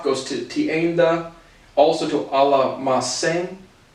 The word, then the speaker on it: almacén: In the context of shop goes to tienda, also to almacén. Again, I think it's a soft C.